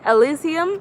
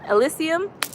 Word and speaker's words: Elysium: the mvp asylee how do you say that elysium elysium yes that movie son yo that movie is